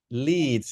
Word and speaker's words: Leeds: Leeds is the pronunciation, okay?